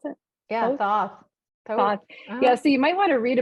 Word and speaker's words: Thoth: while ago, and it has to do with Thoth. Is that how you pronounce it? Yeah, Thoth.